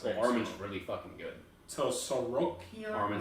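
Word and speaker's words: Tsarukyan: I don't know how to pronounce his last name. Well, Arman's really fucking good. So Sorokian? Arman Sarukian, yeah.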